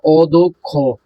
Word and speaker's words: অধ্যক্ষ: উচ্চারণ কি উচ্চারণ লেখবা আর অধ্যক্ষ আছে তুমি লেখবা অদক্ষ ঠিক আছে ভেঙ্গে লেখবা